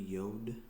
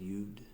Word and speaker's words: Yod: The next letter is going to be Yod, or some people pronounce it Yud, and then it makes all the Y sounds.